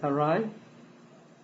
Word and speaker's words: awry: How do you pronounce that? Awry. Awry.